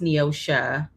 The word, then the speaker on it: Neosho: Um well um my first name is pronounced with an a at the end. So it's pronounced Neossha. My mother is Yeah. So it's Neosha, not Neos, but it's